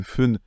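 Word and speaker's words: 分: que vous comprenez que fun c'est le compteur pour les minutes et que parfois ça se prononce Pun pour faire la liaison ça devrait très bien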